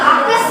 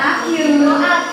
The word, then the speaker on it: aq: Ada yang fase aktif atau akes bacanya, bukan aktif. Iya, akes. Ya, akes.